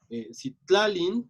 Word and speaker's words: Citlalin: Entonces, por ejemplo, Citlalin justo tiene el acento en tlalin, ¿no? Porque ya nada más hay una sílaba después.